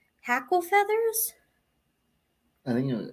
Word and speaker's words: hackle: Hackle or heck am I saying it wrong Hackle feathers I think it was living in h-a-c-k-l-e